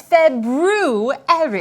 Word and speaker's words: February: are currently in ah the proper pronunciation for the second month of the year is February I know that because